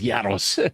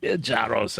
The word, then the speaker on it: Yaros: I'd be happy to join Yaros. Yes. You pronounce it correctly. It's a northern accent you have. The dialect, of course. It is Yaros. Jaros is what most people can pronounce.